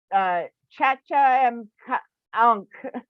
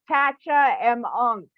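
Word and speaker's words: Tchatcha-em-ankh: But it's TCHATCHA dash EM dash ANKA or H. So Chacha M Ankh. See, so Chacha M Ankh.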